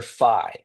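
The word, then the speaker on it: phi: It's the letter Fi and it's spelled like that. So, it's like ph um for the f sound.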